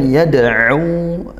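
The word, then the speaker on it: يدعو: Kemudian yad'u, dal sukun dipantulkan, qalqalah sughra, au ada huruf ain ya, bukan huruf hamzah. Latih huruf ainnya. Kita sebagai orang Indonesia mungkin belum terbiasa, belum ada di pelafalan kita, bahasa kita. Dilatih dari tengah tenggorokan makhrajnya.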